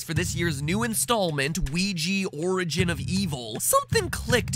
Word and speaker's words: Ouija: I pronounce it Ouija, as in creepy Luigi.